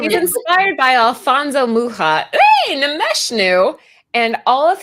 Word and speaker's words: Mucha: Mucha. People call him Mucha, and it's Also in my pronounced wrong.